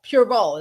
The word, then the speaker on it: Pureval: Pureval is how you say that.